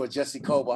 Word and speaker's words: Ojeisekhoba: If you don't know, it's the one and only Ojeisekhoba. How you doing? Well, you finally pronounced my name as if you're a Nigerian.